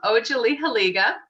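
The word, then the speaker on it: Otsaliheliga: If you want to, everyone, It's Ojalihaliga.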